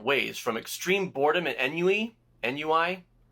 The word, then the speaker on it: ennui: from extreme boredom and ennui, ennui, it's a word I've only seen written, but I don't actually know how it's pronounced. Ah, yes. The Frenchest word there is.